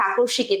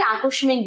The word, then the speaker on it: আকস্মিক: এটা আসলেই মৃত্যু বাস্তব সত্য, বাট এটা সবার কাছে আকস্মিকই থাকে, তাই না? এটা উচ্চারণ অনেকে আকস্মিক বলে, বাট এটা কিন্তু আকস্মিক।